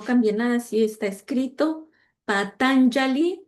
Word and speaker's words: Patanjali: Patanjali. Bueno, la J es se pronuncia como Patangali, Aristóteles, creo que sé si lo conocen bien, a Platón, a Sócrates, a Pitágoras, a Sidarta Gautama.